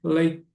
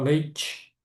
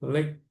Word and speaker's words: late: E olha só, é apenas a pronúncia dessa palavra aqui, apenas late. Nada de falar leite. Leite é leite de vaca. Isso aqui é em inglês, late.